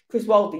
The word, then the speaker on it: Chris Wilder: Is that how you pronounce it? Chris Wilder, yeah.